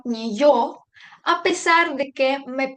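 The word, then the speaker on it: неё: que tiene dos puntitos esto no indica que necesito pronunciarla como un doble y sigo teniendo que guardar la pronunciación como si estuviese escrita la letra yo es decir debo pronunciar ni yo a pesar de que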